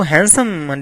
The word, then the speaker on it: handsome: So handsome definitely is a word. So D is silent first of all. Handsome is the word, not handsome, right?